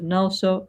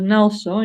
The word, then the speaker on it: NgalSo: The word NgalSo in Tibetan means relax, yeah? Okay? It's got 2 syllables like the English word relax, yeah?